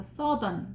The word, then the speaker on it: southern: 그리고 얘는 사우스 언 이렇게 합쳐져 있지만 발음은 서던이라고 읽어야 돼요. 이거 brother 이런 것처럼 드 이렇게 소리 나거든요. 그래서 얘는 오유를 아우 이렇게 소리 내면 안 되고 어로 소리 내야 돼.